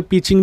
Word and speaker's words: Beijing: ही मानी जाती है बीजिंग को, या फिर कई लोग उसे पीचिंग भी प्रोनाउंस करते हैं, लेकिन मैं तो बीजिंग ही कहूँगा।